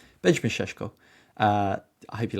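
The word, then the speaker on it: Šeško: Um, I hope I'm saying that right. I believe it's Shesho. Benjamin Sheshko. Yeah, Benjamin Sheshko.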